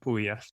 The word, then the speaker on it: Puglia: We went to Puglia. Is that how you say it? Puglia. It's Puglia? spelled Puglia, but it's pronounced Puglia.